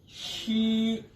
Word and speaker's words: x: Next हमारा sound है शी। नजर आपको एक्स आ रहा है, लेकिन चाइनीज प्रोनाउंसिएशन में इसको हम शी की आवाज में पढ़ेंगे।